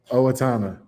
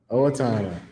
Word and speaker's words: Owatonna: Owatonna. Owatonna. Owatonna.